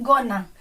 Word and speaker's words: gonna: Next वाला है गोइंग टू से बन जाता है गोना।